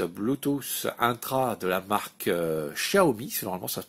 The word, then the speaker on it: Xiaomi: pour ces oreillettes Bluetooth intra de la marque Xiaomi. Normalement ça se prononce Xiaomi et moi j'ai toujours l'habitude de dire Xiaomi,